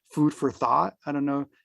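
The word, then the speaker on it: Food for Thot: today one of my favorite podcasts is called Food for Thought. I don't know, it's spelled THOT, and for queer multicultural writers.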